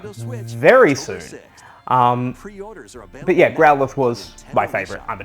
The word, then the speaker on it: Growlithe: of their Endeavor they grow alive sense we Growlithe okay you can tell I'm not a Pokemon